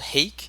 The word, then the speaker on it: H4ke: going to be covering a map called hake and that is spelled with an H4 ke and this map was